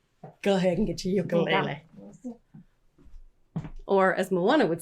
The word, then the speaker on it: ukulele: I learned this from a friend of mine who's Hawaiian, that ukulele is actually a Portuguese word, so you don't have to pronounce it like it's Polynesian.